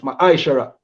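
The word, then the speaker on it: מעשר: 3, 8 to 10, means tenth in the Hebrew and is pronounced Ma'aishara.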